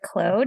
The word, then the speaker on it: Claude: I'm here with Clode and I've asked her at least three times now how to say her name and it's Clo.